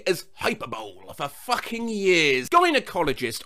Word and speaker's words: gynecologist: Gynecologist. I thought it was pronounced with a J sound, like how the G in vagina is pronounced.